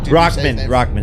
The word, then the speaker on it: Rahman: Hasim Ramen Noodle. Ramen Noodle. Is that Jr. how you say it? Rockman.